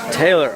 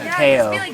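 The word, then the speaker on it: Tao: Taylor, awesomeness. No, Teo. Teo. It's spelled T-A-O.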